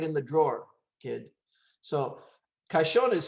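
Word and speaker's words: caxon: spanish put it in the drawer kid so kashon is spelled c-a-x-o-n so we pronounce the x as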